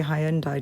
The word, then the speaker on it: Hyundai: Santa Fe I say hyundi different from you folk don't I yeah that's how we say it in the UK I had to double